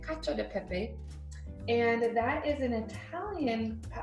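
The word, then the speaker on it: cacio e pepe: It looks like it's spelled cacio de pepe, but it's actually cacio de pepe.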